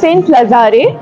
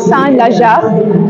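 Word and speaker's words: Saint-Lazare: এই ট্রেন স্টেশনটার নাম সেন্ট লাজারে, যেটা ফ্রেঞ্চে উচ্চারণ হলো সান লাজা।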